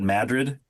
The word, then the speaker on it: Madrid: So, it's kind of a running joke, but they pronounce it Madrid. Yes, they pronounce it Madrid instead of Madrid.